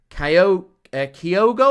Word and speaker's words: Kyogo: His name is Kyogo. I think someone corrected me on the pronunciation in today's video.